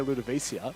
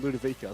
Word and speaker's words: Ludovica: I said Ludovica, then I said I know I'll say Ludovicia, but it is actually Ludovica.